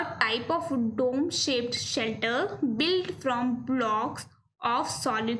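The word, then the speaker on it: chalet: इसकी प्रोनाउंसिएशन है शैले।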